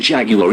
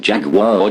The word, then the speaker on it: Jaguar: semi competition trexus 1961 jaguar e-type whether you pronounce it jaguar jaguar everyone agrees that brand oozes style